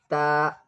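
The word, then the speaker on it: ت: This is little hard. The tip of the tongue, the tip of the tongue touches the upper teeth, the upper front teeth area. The tip of the tongue touches the upper front teeth area. Then comes back, ta, ta.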